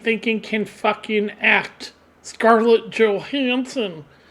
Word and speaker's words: Johansson: Scarlett Johansson. Or if you're actually from Denmark, I think it's pronounced Johansson because her father was actually from Denmark.